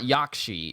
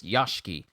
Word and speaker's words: Yashiki: this whole time y'all it's not yakshi it's yoshiki ubu yashiki mansion i am so sorry